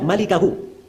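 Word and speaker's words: مالكه: cara membaca yang benar itu bukan bacanya illa mulkahu memang mim lam Kaf ha tapi bukan mulkahu bacanya bacanya illa malikahu cara bacanya asalamualaikum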